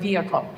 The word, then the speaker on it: vehicle: Now, the H suddenly is like, hello, I'm still here. Um, but it only gets to be there when the stress is on the second is on its syllable.